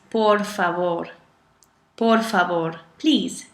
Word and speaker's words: por favor: so nueve okay and the most important one that we learned wrong when we first hear the word English is por favor por favor please not